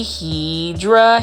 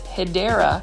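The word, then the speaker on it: Hedera: one of them definitely hedra helix or the correct way to say it is hyera helix or the English ivy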